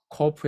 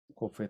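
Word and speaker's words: קוף: 자, 그다음에 발음은 Q로 음가를 표시합니다. Q로. K가 아니고 Q. 그래서 이거를 끄로 발음하는 사람도 있어요. 크가 아니고 끄로 발음합니다.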